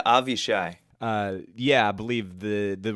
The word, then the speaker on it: Avishai Cohen: they were they played is it a Vashi Cohen or Avishai Cohen I'm never sure how to pronounce his name yeah avi shy yeah I believe the